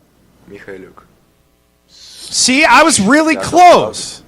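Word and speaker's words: Mykhailiuk: If you want to know his pronunciation, by the way, this is how he pronounces his name. It's like Sviatoslav Mikhailuk.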